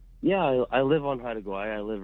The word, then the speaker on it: Haida Gwaii: And now called, how do you pronounce it? Haida Gwaii Safaris. Haida Gwaii.